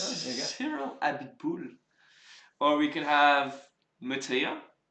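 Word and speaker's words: Abiteboul: Abitboul. Could be quite a Is good that one. actually how you pronounce it? Yes, Oh, there you go. Cyril Abitboul.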